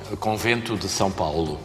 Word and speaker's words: Convento de São Paulo: Comment on prononce couvent de São Paulo? Convento de São Paulo.